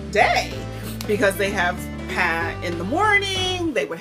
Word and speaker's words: pain: a i n uh in English but it's pronounced p and most French people do eat bread daily